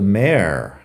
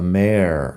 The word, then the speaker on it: mayor: Tenemos the mayor, que es el alcalde. The mayor. Mayor. M-A-Y-O-R. Mayor. Al final la pronunciación es igual a mare de yegua, la hembra del caballo.